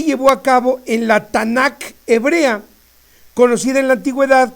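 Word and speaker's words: Tanaj: la historia tnk la tanac hebrea recordemos que el hebreo es una lengua de origen consonántica no existían vocales Así es que tnk se pronuncia tanac bien todos conocidos en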